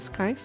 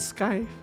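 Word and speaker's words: scythe: creators isn't that a sky isn't that how you pronounce it I've always pronounced it sky is that not how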